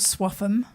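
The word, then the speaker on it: Swaffham: Now, he lives in this little town called Swatham, which is spelt rather strangely with some F's and T's and H's.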